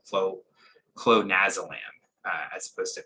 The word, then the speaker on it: clonazolam: a drug called chloe clonazolam uh as opposed to pronounced pam it's clone as a lamb and it's a high